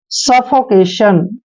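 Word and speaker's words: suffocation: हैं ना कि सु एस यू का उच्चारण श करेंगे डबल एफ को फ पढ़ना है ओ को ओ की मात्रा पढ़ते हैं इस तरह से हो गया सफ सो और सी का उच्चारण हम क करेंगे को ए की मात्रा पढ़ते हैं और टी आईओ एन का उच्चारण हम सन करते हैं सफोकेशन सफोकेशन सफोकेशन क्या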